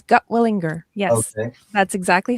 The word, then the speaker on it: Gutwillinger: Okay, tell the world your last name cuz I butchered it and I apologize. You did not. You did very well. It's Gotwilinger.